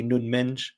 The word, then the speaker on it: Nuno Mendes: Uh Nunge at left back or Nuno Mendes is actually Nun Mench apparently, uh is how you say in Portuguese.